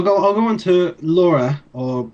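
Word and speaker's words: Lore: I'll go on to Laura or it's spelled l o r e but it's German it's it's Laura because it's the name of this the main character of the movie um it's directed by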